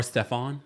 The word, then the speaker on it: Stefan: Or Stefan? How do you pronounce it? It's Stefan. Stefan.